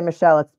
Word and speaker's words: Machel: So it says, this tweet says, it says, this just in, Tiffany Machel, I'm going to say Michelle, it's spelled M-A-C-H-E-L, Tiffany Machel Adams, 54, just booked at the Texas County Sheriff's Office.